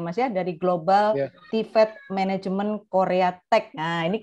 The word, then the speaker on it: TVET: apa pendidikannya media ya karena ada TV IT pertama saya bacanya. Ternyata katanya Mas Adit oh bacanya Global TVET Management.